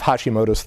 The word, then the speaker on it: Hashimoto's: way they used to, etc., that they have Hashimoto's. Am I pronouncing right?